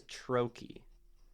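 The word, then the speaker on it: trochee: I am there are two types of two syllable words one is I am and one is Troy t r o c h e e I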